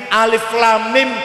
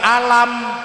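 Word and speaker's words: الم: ya ora ono tajwid Alif Lam Mim dibaca alam atau Sama aja Sama tulisannya kan Alam eh salah bacanya harus alif.lam.mim bacaan itu namanya Mas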